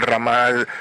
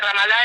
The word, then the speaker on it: Ramallah: Y cerca del Ramal, vos corregime con la pronunciación de las palabras, cerca del Ramallah, ¿no? Sí, cerca de Ramallah es la ciudad que sería la capital transitoria